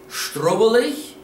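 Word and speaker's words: Schtruvvalech: The word in Dutch is strubbelig. Strubbelig. It's a little bit longer word, but don't be scared. Let's spell it.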